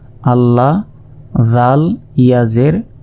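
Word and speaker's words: الله: দেখুন জবর রয়েছে তো ডান পাশে যদি জবর অথবা পেশ থাকে তাহলে এ লাম এর উচ্চারণ লাম খারা জবর লা হয়ে ল এর মত উচ্চারণ করতে হবে যদি আল্লাহ শব্দের ডান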